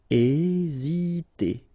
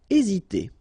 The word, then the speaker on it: hésiter: Hésiter. Okay, remember that H doesn't exist, so we don't pronounce it, and the first thing you will pronounce is this vowel here, E accent aigu, E. Hésiter. Hésiter.